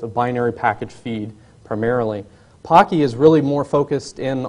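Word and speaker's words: Poky: which there are several uh angstrom and po Pocky is the correct pronunciation are two good examples however even those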